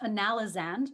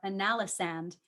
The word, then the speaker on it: analysand: So the word can be pronounced analysand or analysand.